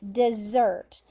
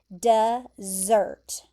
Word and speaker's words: dessert: A dessert. So look at this pronunciation, dessert. Okay? The emphasis is there at the end, dessert.